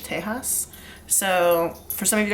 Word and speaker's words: Tejas: I know that's not really how you spell Texas in Spanish. In Spanish, it's still Texas, Texas, but that is how you say it in Spanish, Tejas.